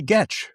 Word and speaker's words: Getch: Then we have a comment from Sally Getch rhymes with sketch.